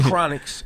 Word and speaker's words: Chronixx: his name is in chronixx and it's spelled like chronic except without the sea on the end there's two x's yeah and then his